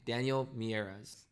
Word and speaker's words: Daniel Miyares: Uber this fall please join me in welcoming Daniel mieres can I pronounce that right that is correct awesome thank